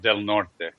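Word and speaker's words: Del Norte: California what you're in hanul County yes Ron delnort County just humor bu County oh okay okay delmare delort delort it's supposed to be pronounced delort oh okay of the north but nobody here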